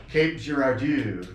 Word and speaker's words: Cape Girardeau: Girardeau so he was he was he was pronouncing it like Depardieu sharat dude that's how he was sick oh my gosh Cape Girardeau so so that was interesting there was also